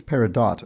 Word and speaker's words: peridot: and i think it's peridot according to chris livornia who says where dot rhymes with hot although duke garland says